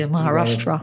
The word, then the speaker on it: Maharashtra: Across various rail stations in Mumbai and Maharashtra, if I pronounce it correctly, Maharashtra.